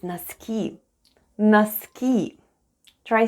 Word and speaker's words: носки: The first sound is /n/, then we have letter O, which is unstressed and is pronounced as /a/ then goes /s/, /k/, and /ee/ at the end. And all together it's НОСКИ /naskee/ .